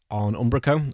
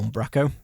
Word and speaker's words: Umbraco: Yeah, I think the episode that I did with Paul Seal on Umbraco, or Umbraco, depends how you want to pronounce it, has probably been the